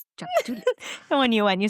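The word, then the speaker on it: Tchoupitoulas: I mean just look at the street name Chapatulus. That starts with a T. Yes. That's my favorite. I know it is. Chapatulus.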